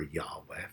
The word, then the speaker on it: Yahweh: The Yod He Vav He, or Yahweh, as we would pronounce it, a name with meaning.